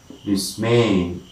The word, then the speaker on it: dismay: is this may may dismay okay may it is on the second syllable dismay the other one is